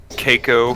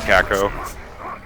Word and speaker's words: Caco: demons know the pronunciation dude i said keiko for the longest time and then i got made fun of by all my friends apparently it's caco yeah it's aladdin it